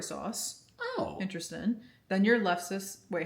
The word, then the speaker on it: lefse: Then your lefse.